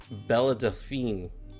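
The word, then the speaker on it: Belle Delphine: How do you pronounce her name? Bella Delphine.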